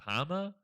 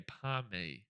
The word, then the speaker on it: pom: We all know that anyone who calls it a Palmer is a disgrace for Australia because it is a pom.